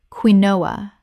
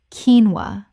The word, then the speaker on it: quinoa: Common mispronunciation, queen-o-ah. Correct pronunciation, keen-wah. Only two syllables. This one surprises almost everyone the first time.